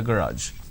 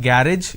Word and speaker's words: garage: him to clean the garage it's not garage it's garage a student at an